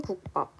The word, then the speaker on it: 국밥: 아까 살펴봤던 예시인 국밥. 국밥은 여기 앞에 있는 받침 기역 때문에 뒤에 있는 비읍이 쌍비읍으로 발음이 나고 있습니다.